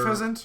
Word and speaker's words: Unfezant: P-Dove all the way to Uznafan. Oh come on, Unfezant is terrible. Unpheasant? Right, that's how you say it.